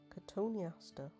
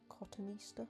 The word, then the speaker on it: Cotoneaster: Cotoneaster, or Cotoneaster, I think you could pronounce it either way, is designated as invasive under the 1981 Wildlife and Countryside Act.